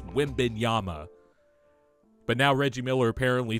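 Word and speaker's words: Wembanyama: the Wim Yama thing man people kept saying Wim bana all year and I'm like guys we've had three years to pronounce this guy's name right it's Wim Yama but now Reggie Miller apparently thinks Chad homr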